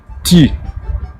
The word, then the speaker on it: Ты: qui se prononce et qui s'écrit comme en français, comme par exemple dans ti, Ты.